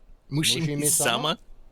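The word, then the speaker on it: Mushihimesama: It's Mushimi-sama.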